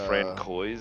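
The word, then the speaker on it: François: So like a It's Francois. Say it right.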